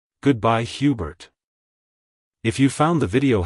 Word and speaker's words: Hubert: in the first syllable The Bert is pronounced as Bert in Albert like hello Hubert goodbye Hubert if you found the